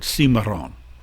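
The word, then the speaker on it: cimarrón: called maroons as well maroon is the english sort of attempt to pronounce the spanish word simaron that's where they get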